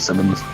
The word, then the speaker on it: Simmons: It's a bit weird how sometimes, like, it's Simons, but if you add an S, but you pronounce it Simmons, even though, you know, it can still be Simon.